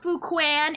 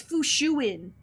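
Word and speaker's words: Fu Xuan: hey yo great choice no it's not fukuan it's it's fushuin actually or fushishi is a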